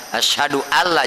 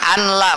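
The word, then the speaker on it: أشهد ألا: Ashadu Alla tuh ya Ashadu Alla jangan anla macanya ya kan masih ada yang anlaanla itu bagaimana sih ya Nun mati ke depannya ada lam namanya idgham maka wajib diidgamkan berarti ada tasdid di atas apa lam alifnya Ashadu allam Jangan asaduan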